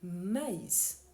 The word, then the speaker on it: maïs: règle ne s'applique pas le i doit être bien prononcé voyons la différence entre mais mais et maïs dans le premier cas